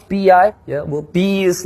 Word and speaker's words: B.I.: Yeah, well, B is like this B and I is like this. This is my eyes.